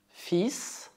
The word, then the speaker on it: fils: Por exemplo, un fils, cuidado, neste caso é o L que é mudo.